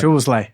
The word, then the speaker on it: Szoboszlai: Szoboszlai. How do you say it? You probably know. Szoboszlai. Szoboszlai. Yeah, Okay. Amran spot on. Yeah, Szoboszlai.